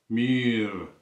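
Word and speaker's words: mûr: ஆனால் இந்த குறி விதைக்க கொஞ்சம் இழுத்து வாசிங்கோ மீர் என்று சொல்லி.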